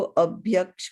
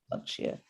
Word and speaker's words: अभक्ष्य: हाँ नीपा, आप वो अभक्ष्य वर्ड को अभ्यक्ष कुछ इस तरह से प्रोनाउंस कर रहे थे। I just wanted two point that out. तो दैट प्रोनाउंसिएशन इज अभक्ष्य, या।